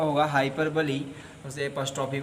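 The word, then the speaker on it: hyperbole: उस टेस्ट की प्रक्रिया को पूरा करने के बाद हम फिर से आपको पढ़ाएंगे हाइपरबली। आप लोग इसका रॉन्ग प्रोनाउंसिएशन ना करिएगा, हाइपरबोल ना पढ़िएगा, हाइपरबली ही पढ़िएगा, जिसकी हिंदी होती है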